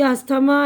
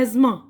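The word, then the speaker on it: asthma: गलत है ठीक है ना जी नहीं य अस्थमा एयर जलैंड डट रिगन और रपर नेस वेडनेसडे नहीं है यह है एजमा य एमा दमा एर यह है ना र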